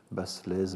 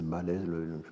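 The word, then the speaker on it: Baslez: trs bien sûr qu' prononcer basselaise balaise prend je pense que le s allonge le a sans être prononcé Marie-Françoise Balis est décédé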